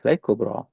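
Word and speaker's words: كبرى: Now this kubra there is this y does not have any dots and then it sound uh and it's pronounced as a long a kubra ta.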